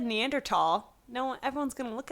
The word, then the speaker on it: Neanderthal: Science Guy the main guy pronounced it neander tall and I feel like that's a detail that wouldn't have escaped Neil's notice and he persisted in pronouncing it Neanderthal which I kind of